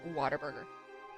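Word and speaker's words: Whataburger: So, I uh I bought water burger today or I should say for people who are out of state. Uh, what a burger. But everyone in Texas pronounces it water burger.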